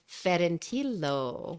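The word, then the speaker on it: Ferentillo: That's pronounced Ferentilo, which is a little Fedentino. town. Oh, Okay. The following day, Tilly had a wonderful surprise for me. After borrowing Giovanni's car, we set off for Fornantilo.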